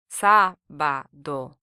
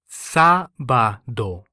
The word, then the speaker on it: sábado: The Spanish word for Saturday is sábado, sábado, Here the first syllable is stressed due to the written accent rather than the second syllable.